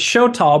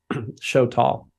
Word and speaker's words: Xoltal: yourself is for the podcast yeah it's it's show tall but let me spell it because it's it's a mine word x-o-l-t-a-l show tall thank you so let's just go back here